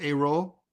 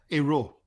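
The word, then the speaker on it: Hérault: A-roll. Yeah. You You don't pronounce the H. So imagine the H doesn't exist.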